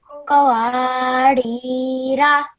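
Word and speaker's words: قَوَارِيرَا: Now when you're reading in continuation, you do not read the Alif Zaida. So I will pronounce it as Qawarira. Qawarira.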